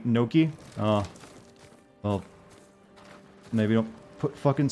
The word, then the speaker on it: gnocchi: It's pronounced K in Italian. It's actually Gnocchi.